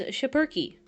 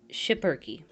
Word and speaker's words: Schipperke: But the way you pronounce it, evidently, is Schipperke. Schipperke. Like that.